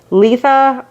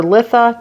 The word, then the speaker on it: Litha: time for potent Magics Letha or litha depending on how you like to pronounce it falls on uh